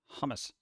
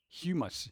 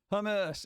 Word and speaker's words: hummus: Just not fan of hummus. I didn't spell that right, did I? No, but it's fine. Humus. You said humus. Don't eat the humus. Hummus. Hummus.